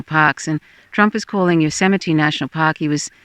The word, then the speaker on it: Yosemite: and trump is calling yosemite national park he was he didn't know how to pronounce yosemite he was going yo semites yo semites it was you know